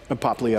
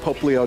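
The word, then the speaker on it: Popplio: So I still find it odd to see, how do you pronounce his name, Poplio? Poplio. Poplio.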